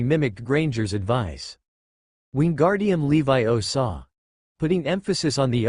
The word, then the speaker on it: Wingardium Leviosa: It's Levi Osaw, not Leo Saw.